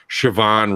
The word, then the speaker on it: Siobhan: telling me I'm saying siobhan wrong when it's spelled SI yo bah and that doesn't say Siobhan and any goddamn language except Irish anyways they're on